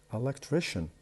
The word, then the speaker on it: electrician: So we have electric, the stress in the middle. Electrician, the stress is will move to the third syllable, the one before the last.